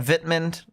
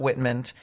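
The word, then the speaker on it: Wittmund: verer or it's a vitman not Witman they don't pronounce the W's they pronounce it with V's so vitman viore and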